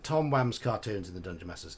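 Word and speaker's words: Tom Wham: been also been told that his name is pronounced Tom wam not in England it wouldn't be whn is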